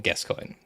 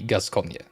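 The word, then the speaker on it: Gascoigne: football player with that name and the you know the announcers just always called him Guscoin but it is Gusa and originally it should be Gusconia so we're calling it Gusconia yay papa Gaskconia all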